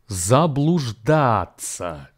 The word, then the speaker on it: заблуждаться: Now, заблуждаться has four syllables. За, блуж, дать, The final two syllables are actually pronounced as даться, and the stress here falls on the third syllable.